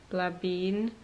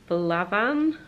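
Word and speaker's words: Blà Bheinn: of a walk up Blabine, which I know that's not how you pronounce it, but it sounds a lot more fun than Blaban, which I think is how it's supposed to be pronounced.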